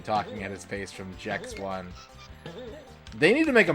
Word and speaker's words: Gex: The creator said he wanted it to be pronounced Jex.